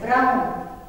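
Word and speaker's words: braun: Brown, pronounced as brown, but mark it, the spelling is different.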